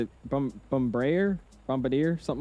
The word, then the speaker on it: Bombardier: Yeah, Bombardier.